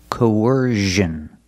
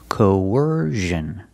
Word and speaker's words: coercion: you have the ER sound like in Burger when we link these two vowels there's a sound in the middle it's a sound like a w linking the vowels coercion coercion put the stress on the second syllable coercion coercion is a